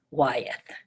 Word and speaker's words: Wyeth: Okay, it's spelled W-Y-E-T-H, Wyeth. Okay. Now, today I'm going to teach you about Grandpa Wyeth.